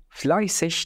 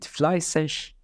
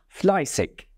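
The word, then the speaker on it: fleißig: بينما فاول تعني كسول ونلاحظ في كلمه فلاي سش بان الاي والج في نهايه الكلمه ينطقوا على انهم انهم انهم ايشش ايشش ايشش فلاش واستباقا للاحداث اتوقع منكم طرح سؤال معين هل هي ام لاننا نلاحظ في بعض الاماكن في المانيا تحديدا بالشمال تنطق فلاي سك فما هو الصحيح وما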